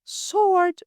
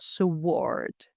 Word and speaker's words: sword: And sword, pronounced sword without the W, not sword.